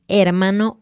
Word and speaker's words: hermano: Por el contrario, la letra H en español es completamente muda. No hace ni un chiquitito sonido.